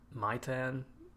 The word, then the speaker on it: Maitan: Kevin Maitan, that's how you say it.